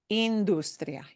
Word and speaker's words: industria: So we know that when we say ya at the end, that ends in a vowel, and that means we're going to punch that second to last syllable. industria, industria.